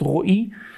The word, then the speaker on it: Roi: So as mentioned, my name is a Hebrew name. It's actually pronounced Roi.